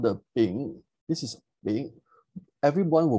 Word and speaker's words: Bing: And we will see this particular symbol, which is called the Bing, B-I-N-G, is pronounced as Bing.